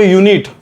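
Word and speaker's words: unit: युनिट लागते का बरं कारण स्पेलिंग जरी य असेल पण सुरुवात आहे यु नीट नाही यु नीट मधला य बाहेर निघते य आहे मराठी व्यंजन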